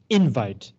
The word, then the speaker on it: invite: and in this case you would stress the first syllable invite because it's a noun uh and it says